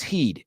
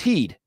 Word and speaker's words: Heid: Oh, actually, that night we found this really cool place called the Sheep's Heed, Heid. Oh, wow. Yeah. And it's pronounced Heed.